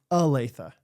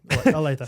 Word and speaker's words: Olathe: You say you make it sound like Olathe is Aletha. You notice that one? Oh, do I? Like you use it like an E, like Aletha. Aletha. Yeah. And you would like to hear more of a long O sound? It starts with an O, so I think so.